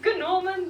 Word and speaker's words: Gnorman: And the second was Gnorman the Gnome. And yes, you pronounce the G's in his name, and I'm pretty sure that alone was the main reason I like this character so much.